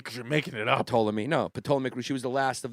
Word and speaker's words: Ptolemaic: See, much like Cleopatra, who was the last Ptolemaic ruler. I always have trouble pronouncing that. Ptolemaic. Yeah, because you're making it up. Ptolemaic.